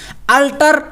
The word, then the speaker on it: altar: क्या है अल्टर, ALTER, यहाँ पर ए है यहाँ पर ई है, उच्चारण दोनों का सेम हो रहा, अल्टर, लेकिन अर्थ क्या है, एक का बेदी एक का बदलना।